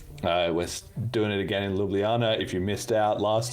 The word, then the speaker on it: Ljubljana: Imagine the Ljubljana? J's are eyes. Okay, Yes. Ljubljana. It's like Ljubljana, if the J's were eyes.